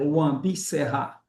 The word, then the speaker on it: Wã Bi Sehá: A pronúncia, Sabina, é Wambi Serra, né?